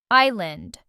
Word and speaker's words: island: This word has a silent S and means a piece of land surrounded by water. Island.